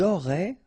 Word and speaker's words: auraient: Ils auraient, remember, ENT, you don't pronounce it, auraient, ils auraient, elles auraient.